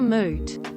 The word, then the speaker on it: moot: is relevant acid reflux mute for moot it's wreak havoc not